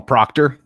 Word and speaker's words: Proctor: And then or I'll call him Proctor, because the brand Procter and Gamble, because it rhymes with doctor.